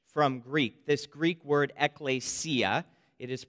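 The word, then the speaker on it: ἐκκλησία: church into english from greek this greek word ecclesia it is pronounced ekklesia is used 114 times in the new testament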